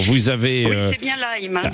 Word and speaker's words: Lyme: Oui, c'est bien Lyme. C'est Lyme, c'est ce que je disais, parce que ça s'écrit évidemment L-Y-M-E, et oui.